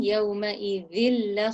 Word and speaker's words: يومئذ: Did you say يومئذ خبير using the tongue between your teeth, touching your top teeth and smiling? يومئذ خبير. G, I'll try. إن ربهم به يومئذ لخبير. It's not a Z sound, it's a dhal sound. So you need to make the tip of your tongue touch your top teeth and say th, and feel the vibration in your vocal cord.